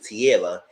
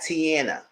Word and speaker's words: Tiara: get their name right her name is Tiara not Tiana he kept saying that